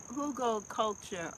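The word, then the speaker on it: Hugelkultur: Yes, it's pronouncing Hugo, Hugo culture.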